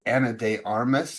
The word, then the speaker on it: Ana de Armas: Okay, the rumored dating Tom Cruise, that is Ana de Armas, I believe is how you say her name.